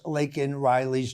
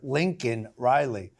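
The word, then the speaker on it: Laken Riley: out quickly of course Biden couldn't even pronounce lakan Riley's name he called her Lincoln Riley from the very moment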